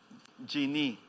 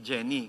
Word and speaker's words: Jeannie: Si Jeannie. Ang spelling kasi ay J-E-A-N tapos N-I-E. So tama po yung pronunciation ko. Jeannie, hindi Jenny kasi may So, okay.